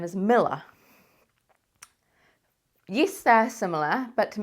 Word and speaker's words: Milla: To me, that says Miller, as in Miller. That's just how we pronounce it, Miller.